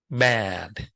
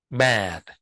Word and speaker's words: bad: của miệng Nhìn miệng của thầy này at Bad Bad còn cái giường á thì đọc là b âm e rõ ràng Chúng ta